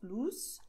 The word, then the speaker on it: Luz: Und Z ist S. Das heißt Luz, Luzia.